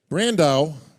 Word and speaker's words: Brandão: Brandao rhymes with Sandow.